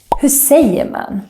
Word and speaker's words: Hur säger man: Hur säger man? Hur säger man is how we say, how do you say? It can sound something like this.